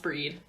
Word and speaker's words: Bhríde: oh cool it smelled like bride but it's pronounced breed yes mm-hmm I knew that I was just